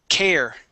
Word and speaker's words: care: Okay, this word here is care instead of care. Okay, the word is care. Uh, care. Okay, one more time. We say care. Care. Give me an R sound at the end.